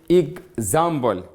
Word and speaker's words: example: We write it because in pronouns we say example. Any EX which follow it. A, we pronounce it eg, example, or also another word like this. Exam, examination. Here, the sound of EX is eg, you see?